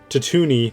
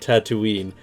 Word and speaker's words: Tatooine: a tatooine he says he pronounces it as tatuni not tattooing any between this uh you pronounce it as a tatuni not tatooine and between this and not